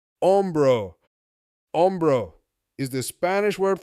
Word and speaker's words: hombro: We hear the shoulders say hombro, hombro. Hombro is the Spanish word for shoulder. Again, let's take a few seconds and let this sink in. Also, in Spanish, the H sound is silent. So hombro is pronounced hombro.